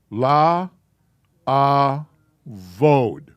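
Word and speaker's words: לעבוד: La avod.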